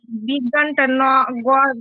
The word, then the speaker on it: বিজ্ঞান: আর যদি কোনো আনুনাসিক বর্ণ আগে উচ্চারণ হবে, মানে যেমন বিজ্ঞান, বিজ্ঞান আমরা গটা আগে উচ্চারণ করব, নটা পরে উচ্চারণ করব।